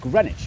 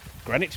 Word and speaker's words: Greenwich: This is the East London suburb of Greenwich, where you don't pronounce the W or one of the E's.